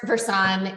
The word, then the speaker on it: Versan: Is it yeah, it's Versan. It's the root Ver Truth San Health. Oh.